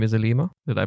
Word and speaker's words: Alima: another call out from arub her name is elima did i pronounce that right i hope i did yeah